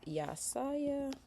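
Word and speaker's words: Yahsiah: His name is spelled Y-A-H-S-I-A-H. His name is Yasaya.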